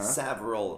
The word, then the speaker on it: several: Several. Mas a gente diz oh. Several. Several. Several. Several. Duas sílabas. Several. Several. Several. E terminando com a língua entre a língua no céu da boca.